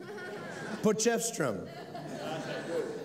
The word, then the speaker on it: Potchefstroom: Did I pronounce it right? Potchefstroom. What they said. Potchefstroom.